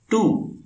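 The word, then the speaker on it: two: என்ன துவி என்றால் இரண்டு டூ என்பது அதிலிருந்து வந்ததுதான் துவில் உள்ள இத் டி என்பதே டுவில் இட் டி ஆகிவிட்டது உச்சரிப்பில் டூ என்று சொன்னாலும் ஸ்பெல்லிங்கில் டிக்கு அப்புறம் டபள்யூ வருகிறது டபள்யூக்கு வ சப்தமே உண்டு துவையில் உள்ள வ தான்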